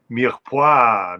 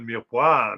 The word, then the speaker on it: mirepoix: Oh, mirepoix, mais bien sûr, c'est silant, on ne prononce pas le E dans la parole mirepoix, mais oh, oh, mais